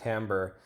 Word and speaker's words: timbre: so that word Tambor this is pronounced Tambor it is a word